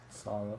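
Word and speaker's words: Saleh: But yeah, other than that, uh, Robert Salah or Sal, however you say his name, Salah, Salah, I'm tripping right now.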